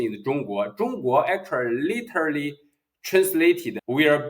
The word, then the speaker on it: 中: China you know the CH in Chinese in pronunciation is Jung Jung actually literally translated will be Central Kingdom